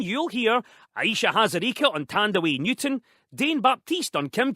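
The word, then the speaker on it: Thandiwe: who was known as Tandy Newton, but she um has said that people got her name wrong. And actually her real name is Tande Newton, which is the original Zimbabwean spelling of her name.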